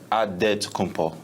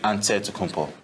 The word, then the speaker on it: Antetokounmpo: In the Greek way, you gotta say with a D, so it's Antetokounmpo. But in the Greek way, you say with the NT, like Antetokounmpo.